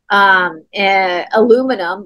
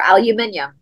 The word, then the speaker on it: aluminium: Aluminum or aluminium.